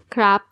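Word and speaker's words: ครับ: poems which had crap there's only one way of pronouncing the polite particle crap but they polite particle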